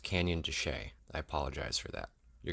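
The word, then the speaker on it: Canyon de Chelly: point out that for the entire video I pronounce Canyon de Chile incorrectly it's actually pronounced Canyon duchet I apologize for that you're going to hear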